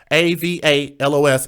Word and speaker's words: Avalos: descent people there, and I believe you pronounce a v a l o s s Avalos, okay?